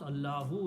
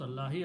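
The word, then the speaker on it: اللهُ: In this ayat, you have to pronounce Allahu. You cannot pronounce Allahi, otherwise meaning will change.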